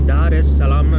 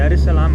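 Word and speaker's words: Dar es Salaam: அந்த தீவில் இருந்து இது டருசலாம், டாரெஸ் சலாம்னு நான் சொல்கிறேன் இல்லை, அது வந்து டருசலாம் அப்படின்னு சேர்த்து ப்ரொனவுன்ஸ் பண்ணுறாங்க.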